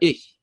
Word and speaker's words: ich: when you're learning German, you have to learn how to say the strange "h" sound, right? Yeah. For ich, right?